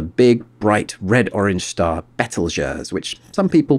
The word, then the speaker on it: Betelgeuse: famous for the big bright red orange star betelgeurs which some people pronounce beetlejuice and over here rigel another bright star in